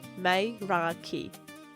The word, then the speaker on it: Meraki: It's called Meraki, pronounced May-ra-ki, a word that means to